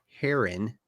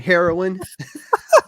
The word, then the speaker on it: Heron: October 7th is when the boy in the Heron premieres I said it right I said it right yeah not hitting my vein this time heroin the heroin oh I had I had